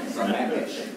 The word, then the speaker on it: Sammamish: in Kenmore and also spending some time in Sammamish, however you pronounce that. Sammamish, have I got that right? Sammamish.